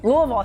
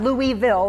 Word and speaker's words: Louisville: Louisville. See, you have to say it right. It's not Louisville, it's Louisville. Right. Just put it all together.